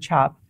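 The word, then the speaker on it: tjap: a fatigue okay so i know you said the word chop but that's spelled weird so somebody was going to look see that in a written material somewhere it would be spelled t-j-a-p or cap c-a-p okay yeah so i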